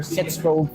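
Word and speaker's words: sitzprobe: Our first ever sits probe for. We aren't kids anymore. But what is a sits probe? It's spelled sit as in chair with a Z and probe as in probe your worth.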